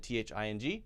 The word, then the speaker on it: thing: T-H-I-N and T-H-I-N-G. Remember this, that, thin. Bring the tongue, the front of the tongue forward to the front of the mouth, and that's T-H-I-N. Then I-N-G is in the back.